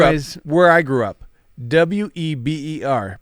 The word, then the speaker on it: Weber: all right where is where i grew up w-e-b-e-r pronounce it weber exactly that's weber yeah i know and i